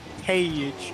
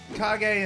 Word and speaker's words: Kage: Got it. I've been pronouncing his name Cage in my head. It's Kage.